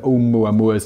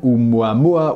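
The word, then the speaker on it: ʻOumuamua: some equally unwieldy) nickname ‘Oumuamua was given by the Pan-STARRS team that discovered it. Pronounced oh-MOO-uh MOO-uh, the word is Hawaiian for “messenger from afar arriving first,” and it’s particularly apt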